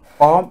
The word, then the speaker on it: homme: Homme here, it is silent.